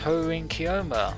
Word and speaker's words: Hououin Kyouma: And hey, you actually pronounced Hououin Kyouma properly.